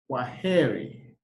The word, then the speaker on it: Kwaheri: In Swahili, you say Kwaheri.